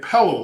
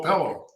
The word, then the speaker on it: Pelo: You pronounce my name Pelo, like hello. Hello, Pelo.